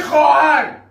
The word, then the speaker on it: خواهر: ببین درست نگاه کن اون واب خونده نمیشه ببین نوشته میشه ولی خونده نمیشه چرا نمیشه دیگه میشه خواهر آها آفرین پس باب